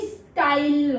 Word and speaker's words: stile: अगर मैं इसके पीछे ई लगा दूं तो ये साइलेंट हो जाएगा और इसका साउंड हो जाएगा लॉन्ग, ये आई हो जाएगा, तो ये स्टाइल हो जाएगा।